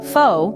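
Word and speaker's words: phở: Pho, pronounced pho, is the heart and soul of Vietnamese cuisine, a dish that encapsulates the essence of the country's rich culinary tradition.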